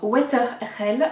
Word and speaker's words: Wetherell: vous dire de bêtises c'est le modèle weatherell alors water hell en français enfin prononciation française le weatherell pull-over de